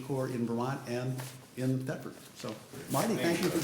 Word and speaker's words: Thetford: I was just thinking about coming to this town, if I could pronounce it correctly. Thetford?